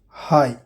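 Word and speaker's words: high: जी एच, किसी word के अंत में जी एच या जी एच टी हो तो जी एच साइलेंट होता है। एग्जाम्पल देखिए, हाई ऊंचा, थाई रान को बोलते हैं।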